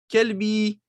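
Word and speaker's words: كلب: Kelbi, qalbi, qalbi, mon cœur. Kelbi, mon chien. C'est une différence, n'est-ce pas? Kelb, chien. Qalb, le cœur. Donc faites attention à bien prononcer.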